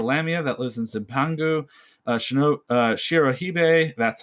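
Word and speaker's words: Shirohebi: Shirohige, that's how you pronounce it, are distinguished by their pale skin, white hair, and white serpentine lower bodies.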